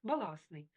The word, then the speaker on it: баластний: на письмі не відбувається баластний на письмі літера Т є, тобто не відбувається спрощення. У вимові відбувається треба говорити і писати транскрипції баласний.